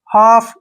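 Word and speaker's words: half: HUT, हट, HLF, हाफ। यहाँ पे जो है L साइलेंट रहेगा, L के जो मैंने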